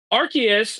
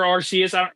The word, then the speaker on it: Arceus: Again, Arceus or Arceus. At this point, I feel like I've heard it pronounced both ways, so I'm just either way is fine.